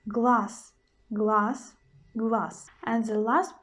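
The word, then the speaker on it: глаз: will give you an example in word glass glass glass in the end we've got letter z but we pronounce the sound as so so we pronounce glass glass glass and the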